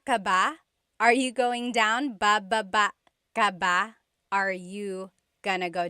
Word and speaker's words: baba: So depending on how you're saying it, it could be ba chin baba. Emphasis is on the first syllable. Baba. Then there's baba baba. Emphasis is on the second syllable syllable. That means to go down.